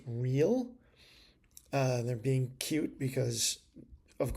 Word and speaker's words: Ryl: iced tea from the Rill, Ryle. I'll bet you they want it pronounced real.